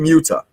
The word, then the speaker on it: Muta: I kind of felt myself say it like a little weird, but yes, it's the Great Muta.